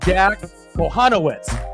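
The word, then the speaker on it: Jack Kochanowicz: went through it a couple times and it's pronounced Jack panowitz but when you look at that spelling on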